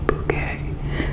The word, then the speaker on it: Bucket: last name, which is Bucket, because in the series, every time somebody says Mrs. bucket. She is always correcting them and saying bouquet.